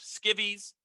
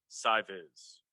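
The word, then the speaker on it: SciVis: visualization high school which until now i thought was pronounced skivvies but i've been informed it's pronounced si viz and now for your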